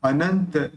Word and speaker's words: अनंत: जगतपति ही अनंत अनंत यहां पर जो बिंदी है इसका न निकलेगा अनंत जिद चिंत मा भव्य